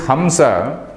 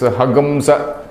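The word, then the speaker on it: हंस: So anyway, this Hamsa means this Hagamsa. All these Yajurvedis, they pronounce it as Hagamsa.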